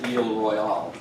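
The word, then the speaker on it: Isle Royale: you're a sophisticated person, you ought to say Ile Royale. And some people in my family still insist on saying that, but normal people just say Isle Royal.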